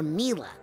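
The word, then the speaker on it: Milla: Is it pronounced Mia or Mila? Well, it's short for Camila, you know.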